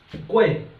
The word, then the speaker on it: 贵: 贵, okay, there's the 4 tones, so if we are pronouncing it, remember, make it very very shorter, okay?